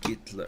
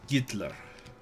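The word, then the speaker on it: Гитлер: out there only silence oh it is gitler oh it's it's that's how it's pronounced in Russian interesting I didn't know that gitler huh okay what's a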